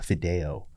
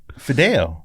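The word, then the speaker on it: fideo: the dishes that they served uh it's called Fido which is unique to TexMex Cuisine can you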